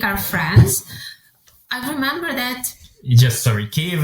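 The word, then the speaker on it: Київ: Kiev is a Russian pronunciation, Kiev is Ukrainian.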